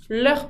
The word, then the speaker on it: leurs: pour que le kiloutablir leurs petits-enfants avec un S qui ne se prononce pas chasser Ramos les adjectifs